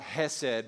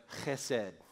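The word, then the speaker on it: chesed: on say he said you gotta get a little on your shirt if you're gonna say it right not hes said but he said come on try it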